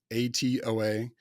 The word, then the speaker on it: Knowatoa: It's Knowatoa. It rhymes with Krakatoa, and we came up with a weird name so we didn't have to fight so much trademark weirdness.